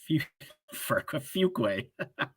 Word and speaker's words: Fuquay: Fuquay. Fuquay? There's no R in there.